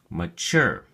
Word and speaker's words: mature: look at your flashcard mature has two syllables and the emphasis or stress is on the second syllable sure so we say mature mature it is used as